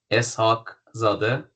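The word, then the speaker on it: Eshaqzadeh: to pronounce it correctly, but it's Es-haq-zade. So, uh Zade is son and Es-haq Es-haq.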